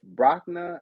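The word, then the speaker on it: Brakna: page 167 some mores in the area of brockner and tri char trasa b-r-a-k-n-a t-r-a-r-z-a just google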